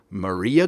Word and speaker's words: Maria: Maria Galea. Maria Galea. Her last name rhymes with her first name.